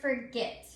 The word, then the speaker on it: forget: you can see that the accented syllable is at the end it's the last syllable of the word forget and remember an accented